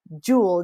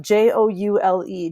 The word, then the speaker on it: joule: for Newton meter is also known as a Joule jou le jou le is how it pronounced that so the units of work and